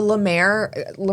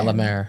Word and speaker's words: La Mer: The Lamar, whatever. Is that $1,500? It's like $900. It's really, the La Mer, like the LA, I'm probably even pronouncing it wrong. Like That's how MER? Yeah. La Mer.